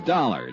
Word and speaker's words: Dollar: Buzz I didn't it's dollar Johnny dollar dollar huh yeah rhymes with collar I always like to